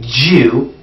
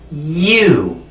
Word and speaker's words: you: the way back because you don't want to say jew the proper pronunciation is you you so take a pencil